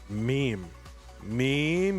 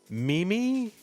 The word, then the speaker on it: meme: Is it Mimi? I'm not, it's meme. And this was a college educated woman, smart. Oh God, remember May as a pronunciation?